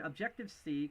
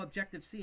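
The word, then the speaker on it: Objective-See: And Objective C, kind of styled after Objective with a C, but this is spelled S-E-E.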